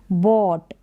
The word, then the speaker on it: bought: करके आ रहा साउंड, और ये जो GH है इस बॉट में, ये साइलेंट है, बॉट।